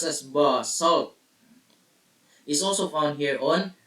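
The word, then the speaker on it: basalt: lava rock of this kind known as basal pronounced as B salt is also found here on Earth so this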